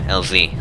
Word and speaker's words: LZ: Now we need to head to the LZ, or LZ, as Americans say.